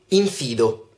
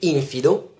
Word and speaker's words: infido: 7 in lista l'aggettivo infido non si dice infido bensì infido perché questa di questa parola deriva da deriva da in che fa da negazione e fidus che significa fedele letteralmente significa infedele dunque